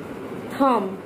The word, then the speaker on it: thumb: Letter of द बी, बट आई एम not pronouncing be इन the last. Baum, Baum, com, सी ओ एम बी, com, okay. थम, टी एच यू एम बी, एम बी, थम।